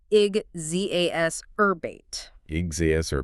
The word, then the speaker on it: exacerbate: Exacerbate. E X A C E R B A T E. Pronounced igg zerbate.